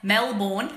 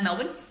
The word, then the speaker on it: Melbourne: wear your stuff okay you pronounce Melbourne you pronounce male born as Melbourne okay so Mel B